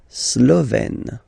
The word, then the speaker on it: Slovène: Slovène. Remember, E accent grave, you open it.